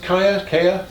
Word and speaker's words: Giya: Is it pronounced Kaya? That line? This is the Giya line. This is the Giya line.